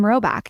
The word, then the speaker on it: Rhoback: If you haven't already, it's now time to try out some Roback.